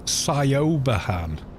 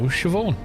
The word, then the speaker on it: Siobhan: If I you read it in English, it's Siobahan. You know what I mean? If if you have a native language that isn't Gaelic, then you're going to mispronounce Gaelic names.